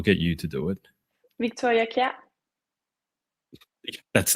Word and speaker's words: Victoria Kjær: I'm not going to pronounce her name. I'll get you to do it. Victoria Kjær.